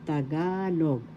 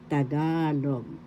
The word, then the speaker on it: Tagalog: ka third syllable log the accent is in the second syllable tagalog that's how you pronounce it correctly tagalog now we are going